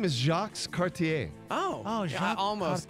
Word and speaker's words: Cartier: His name is Jacques Cartier. Oh, yeah, Jacques I almost got So, that. but here's the thing. I'm gonna. Can I Rhymes get? with RCA. Yeah, it does rhyme with RCA.